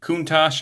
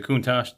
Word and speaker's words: Countach: right there and it is molded after the Countach I believe is the way you pronounce the Lamborghini that's molded after and it